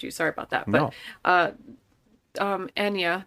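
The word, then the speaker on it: Anya: But Enya, that's how she pronounces her name, by the way.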